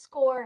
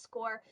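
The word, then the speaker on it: SCOIR: um it's it's pronounced score it doesn't look like that but it is pronounced score but it has um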